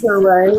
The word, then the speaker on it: Touré: Oh, yeah, it's pronounced Touré.